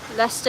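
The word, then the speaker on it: Leicester: Lester is spelled so weird. The Dester. Uh, yeah, it's kind of spelled like Lee Cester.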